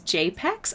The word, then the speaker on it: JPEG BXS: My OG name was JPEG BXS, pronounced as JPEX.